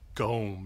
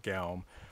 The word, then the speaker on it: gaum: But he says like gom, not gaum, or guim in modern Icelandic.